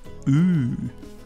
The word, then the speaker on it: ü: Well, like this. Ooh. Make your mouth like ooh round. Ooh.